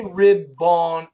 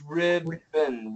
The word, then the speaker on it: ribbon: i BB o m we don't say rib bone it's ribon ribbon ribbon so let's start with